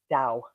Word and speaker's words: Tao: the wisdom of the Dao so and the Dao is spelled t a o and it's pronounced Dao like d-o-w so there's a couple